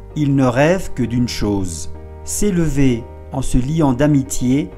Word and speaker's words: chose: Es una S que está entre dos vocales, entonces se pronuncia chose.